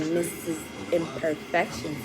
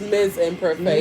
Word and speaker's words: Ms. Imperfections: So, with that being said, Queen Sassy T and Mrs. Imperfections is out for She said my name wrong. It's Ms. Imperfections.